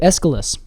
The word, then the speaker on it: Aesculus: Is it Aesculus? I would just do Aesculus. Aesculus. Yes, I wouldn't put so much emphasis on the U. I see. And not Aesculus.